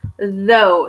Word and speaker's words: though: So we have though. So let me actually just write though. Like I said, you're kind of doing the Z sound with like everything, but your tongue is Z. It's inside my mouth right now. When I say though, my mouth is actually shaped like an O as well.